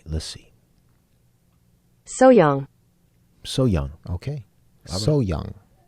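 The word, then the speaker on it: 소향: pronounced it would be hyang hyang hyung but often our Korean instructor lets us know that when it's pronounced fast the H is left out a lot of times like so young so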